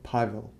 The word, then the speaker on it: Павел: With emphasis on O in его and A in Pavel. So, Pavel.